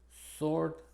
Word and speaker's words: sword: Y en estas tres es muda: answer, sword, and to, que se pronuncia como las otras dos palabras que vemos ahí en paréntesis.